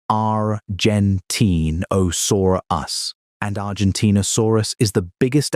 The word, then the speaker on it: Argentinosaurus: Because Giggonotosaurus shared its ecosystem with Argentinosaurus, pronounced Rentine Osaurus.